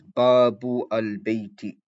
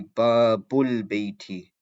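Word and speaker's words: باب البيت: So instead of saying Babu al Bayti and pronouncing the Hamza, you say Babul Bayti.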